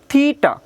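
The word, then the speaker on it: theta: আমাদের এই কোণকে বলা হচ্ছে, এটাকে হলো থিটা কোণ। থয়রসিট টাকার, থেটা না, থিটা উচ্চারণ হবে কি?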